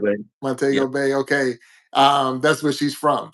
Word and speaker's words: Montego Bay: Montego Bay.